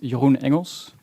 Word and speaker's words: Jeroen Engels: little bit about me my name is Johan Engels it's a Dutch name I'm used to people